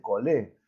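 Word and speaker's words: χολή: Cholé en griego es bilis. Por eso todo lo que se escribe se dice colé, pero se escribe con CH.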